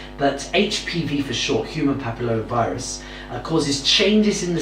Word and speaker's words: papilloma: diseases is human papilloma virus and or short pronounced exactly right it's human papilloma papilloma correct Achatz human papilloma virus and this is